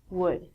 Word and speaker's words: would: pronunciation on ink vidcom all of these l's are silent so it sounds like should good and the thing that we get from trees would that's easier next one